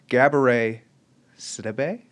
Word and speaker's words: Gabourey Sidibe: say her name right I swear to God Gabourey Sidibe yeah I saw Gabby Gabby she's lovely she's